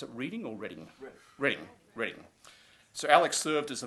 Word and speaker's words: Reading: You pronounce it Reading or Reading? Reading.